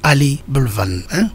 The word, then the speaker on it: Ali Bullivent: It's Ali Bullivent. Yeah? Well pronounced, isn't it?